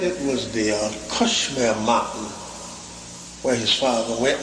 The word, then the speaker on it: Kashmir: in the Western World people in the East pronounce it as Kashmir Kashmir Kashmir the Kashmir Valley the Kashmir Mountain the